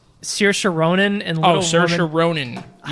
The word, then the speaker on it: Saoirse: Saoirse Ronan and Little Saoirse Woman. Ronan. Yes. I definitely butchered that.